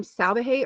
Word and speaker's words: Salvaje: Um first of all, Sean, is your last name Salvahe or Salaj?